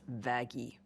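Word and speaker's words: Vaggie: know how people should go into heaven that vaggy that vagi actually it's pronounced vaggi no is a fallen angel it's a bit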